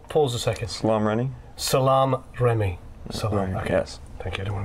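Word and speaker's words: Salaam Remi: had uh um oh my God how' you pronounce his name PA pause a second Salam Ry Salam Remy Sal thank you I don't want to mess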